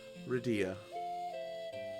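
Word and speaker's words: Rydia: I heard it's pronounced some people say Ria or Ria ridea sounds proper because Dia is in the name and I just think r y is separate with Dia at the end so Reda it's pronounced Dia in other game so redia join the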